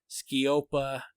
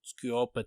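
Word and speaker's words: sceopa: Skiopa Teos is spelled, Skiop is spelled S-C-E-O-P. Skiopa is spelled S-C-E-O-P-A. And so it's, I'm not speaking, Skiopa Teos.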